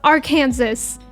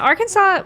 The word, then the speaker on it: Arkansas: Um, Kansas, Arkansas. Oh my god. Literally, it's like that one vine. How is this state pronounced Kansas and this one is not pronounced R Kansas? Yeah, Arkansas.